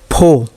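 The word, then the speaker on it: foe: ठीक है, एफ ओ ई, फो, फो मतलब दुश्मन।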